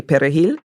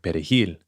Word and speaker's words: perejil: they pronounced the word perejil, the Spanish word for parsley. Because Haitians, in Creole, we use a guttural R, and Latinos roll their R.